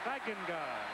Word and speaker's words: Stegenga: Stegenga is the way the family pronounces it. It's the most mispronounced name in America. And before the day's done, we'll do a tap dance on it, I'm sure. But the family calls it Stegenga. So then we'll call it Stegenga.